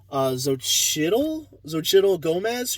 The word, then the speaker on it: Xochitl Gomez: I'm totally gonna mess it up, but I believe it's pronounced Xochitl Gomez, who plays America Chavez.